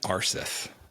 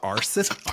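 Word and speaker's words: Aarseth: his name was Oystein Arseth. And I believe that it is actually pronounced Eystein. Eystein? Close enough. So Arseth? I'm not going to be able to correct you, I promise. With a hard T.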